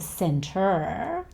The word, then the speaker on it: centre: Instead of centre, he replaces the sound with the schwa sound.